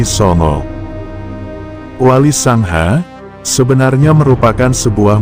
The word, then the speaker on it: Songo: Semula berawal dari ejaan huruf Jawa, kata A dilafalkan O. Jadi kata Sangha menjadi Songo.